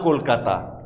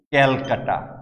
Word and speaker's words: কলকাতা: রাজধানী কলকাতা, বহুকাল ধরে এই শহরের নাম কলকাতা। ইস্ট ইন্ডিয়া কোম্পানি আসার আগে থেকে এই জায়গাটির নাম কলকাতা। কিন্তু ওরা এসে এটাকে বানিয়ে দিলেন ক্যালকাটা। ক্যালকাটা অর্থাৎ আমরা নিজেদেরকে বিকৃতভাবে দেখতে পেলাম ওদের উচ্চারণে।